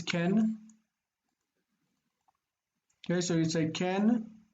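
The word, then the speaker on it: כן: how do you say no sorry yes it's Ken okay so you take an that's a comma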